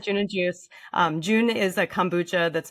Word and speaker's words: June and Juice: We pronounce it June and Juice.